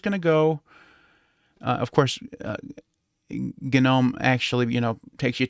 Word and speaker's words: GNOME: here for a second it is pronounced gnome for a reason because gnome is an acronym okay and we can